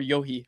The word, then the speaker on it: Yohe: Is it Josh Yeo or Yohe? How's it pronounced? Yohe.